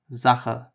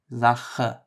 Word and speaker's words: Sache: The J in Spanish you might be familiar with from words like jalapeño. That is the first pronunciation of CH. It appears in words like Sache, which is thing, Sache, or machen, machen, which is to make.